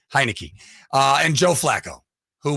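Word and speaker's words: Heinicke: yeah uh but Taylor I never known how to say his name because it looks like Heineken yes hi Nikki heinecke uh and Joe Flacco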